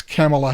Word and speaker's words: Kamala: I mean I think Kamala Harris or Kamala I don't know how you say her name it'sa Harris it is it's camela Harris yeah so it is